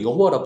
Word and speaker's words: 여호와: 원래 여호와라는 것은 사실은 발음해서도 안 되는 건데, 어쨌든 말은 해야 되니까 발음을 붙여서 우리가 여호와라 부르거든요. 그래서 여호와, 혹은 야훼, 똑같은 말인데, 여호와와 엘로힘이라는 두 가지 이름이 나와요.